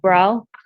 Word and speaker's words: Bro: Cherylyn Foster Tucker on behalf of Bro. Recognize the name with the spelling. Um Grace McD for the people. Your name sir? Um, bro. It's pronounced bro. Bro, like B R O.